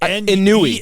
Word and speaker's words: ennui: very specific it's totally ennui is not written how it's said. Ennui. Yeah. It's like ennui.